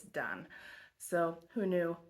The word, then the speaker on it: Dain: I was looking up how to say his last name and found out that his first name is actually not pronounced Dain, it's Dain.